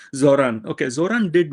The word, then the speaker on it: Zohran: And Zohram was not Zohran. I keep saying the name wrong. Zohran.